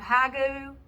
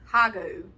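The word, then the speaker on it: hygge: on is it called hagu hagi h-y-g-g-e something like that they say it's hague like the way you pronounce it or something anyway like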